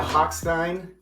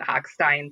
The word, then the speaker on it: Hochstein: actually hard for me because I'm a German major by uh by trade and so I want to pronounce it the real way and his whole family pronounce is at hackstein so that's what I